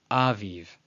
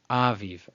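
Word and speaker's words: אביב: So contrary to, let's say, some people might say it's aviv, aviv. No. Aviv, aviv.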